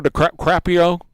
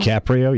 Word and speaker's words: DiCaprio: Leonardo De Crappio De Crappio? DiCaprio, yep.